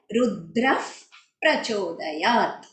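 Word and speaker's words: रुद्रः प्रचोदयात्: जैसे हमारे सर्वदेवता गायत्री में है, ऑल द प्रोनाउंसिएशंस जो आते हैं, जैसे यहाँ पे दिया है रुद्रफ प्रचोदयात, रुद्रफ, इफ साउंड आना चाहिए, वो एकदम क्लियरली आना चाहिए, रुद्रफ प्रचोदयात।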